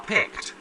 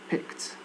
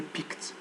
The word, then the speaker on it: picked: Picked. Don't say picked. They are picked. They are picked. There is stress in P. Picked.